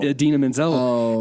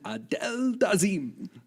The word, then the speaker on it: Idina Menzel: was supposed to introduce Idina Menzel, and he completely mispronounced her name. Like, it was absolutely comical. He said, "Yeah, the wickedly talented Adele Dazeem," and she was like, everyone said, like, who?